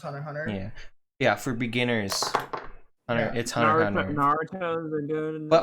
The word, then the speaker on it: Hunter x Hunter: another good one um it's actually spelled hunter x hunter but it's pronounced hunter hunter yeah yeah for beginners